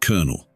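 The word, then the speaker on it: colonel: nothing but human instinct the word kernel is pronounced kernel the past tense of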